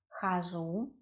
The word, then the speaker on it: хожу: Я хожу, stress is on у, it's not я хожу, it is я хожу, я хожу. Because у is stressed, we pronounce а in the first syllable.